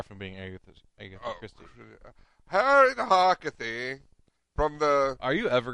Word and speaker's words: Harkavy: Harriet Harkavy from the. Are you ever gonna say her name right? Is it You went from Harkavy to Harkathy.